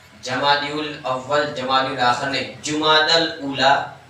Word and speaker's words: جمادی الاولی: اصل تلفظ جو مہینے کے نام میں نے بتایا تھا آپ کو، جمادی الاول جمادی الاخر نے جمادی الاولی جمادی الاخری کیا ہے؟